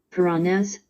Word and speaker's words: Puranas: these are the Piranhas add note pronounced purana puranas but I've been looking